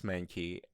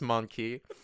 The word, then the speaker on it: Mankey: i think james kicks manky and that really annoys monkey and counts and hear it now james kicks monkey it's not ma it's man look